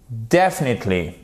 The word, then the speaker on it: definitely: Donc déjà, première chose, l'accent tonique se trouve, yes, ici. Definitely.